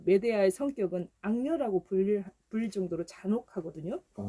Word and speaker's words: 메데아: 이 메데아는 메데이아라고도 발음하기도 하는데요.